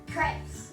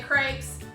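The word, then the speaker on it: crêpe: Crepes. We are making crepes. They are so easy and delicious. It's a French style pancake, very, very thin. I think the French pronounce them crepe. We say crepes.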